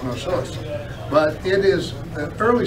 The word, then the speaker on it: Knossos: Now that K is silent in Greek, they call it Knossos.